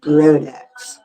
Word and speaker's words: Brodax: Al Brodex. It's spelled B R O D A S. last name Brodax.